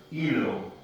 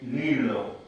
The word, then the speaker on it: hilo: In actual fact, sorry, I could not pronounce the word hilo properly in Spanish, and I always used to say lilo with an L.